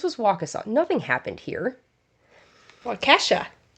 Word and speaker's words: Waukesha: Waukesha. The way it's spelled is not the way it sounds.